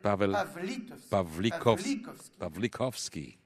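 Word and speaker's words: Paweł Pawlikowski: Zlotowski, father of Rebecca Zlotowski, I'd like to commend his work, said that the right way to pronounce next movie maker is Pavel Pawlikowski.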